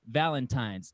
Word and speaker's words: Valentine's: That's when if you're 18, you have to learn how to say it correctly, Valentine's.